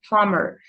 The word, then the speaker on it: plumber: answer is plumber plumber take care that the B is a silent letter so we don't pronounce it at all we say plumber silence he's a plumber plumber okay who sweeps